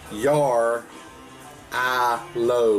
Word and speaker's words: Jarrylo: the your Aloha it's a Russian word the pronunciation is your I low with the emphasis on the letter on to